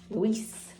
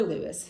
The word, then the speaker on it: Luis: This is chapter 30, Luis, or Lewis, however you want to pronounce it.